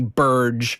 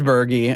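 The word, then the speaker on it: Berge: Cuz I've been thinking in my head Bobby Burge for the last, you know, 25 years or whatever. And I I never knew that it was pronounced Bergie.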